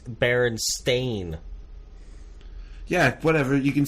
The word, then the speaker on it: Berenstain: at all it's it's Berenstain yeah whatever you can say it a different way if you have a different act no no it's it's not spelled like Stein it's spelled like stain okay that's fine i